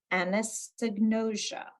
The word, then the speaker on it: anosognosia: I think it's pronounced anosognosia. So anosognosia gets its own slide.